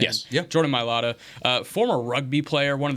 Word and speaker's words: Mailata: Is that how you pronounce his name? Yes. Yeah. Jordan Mailata, former rugby player, one of the few Australians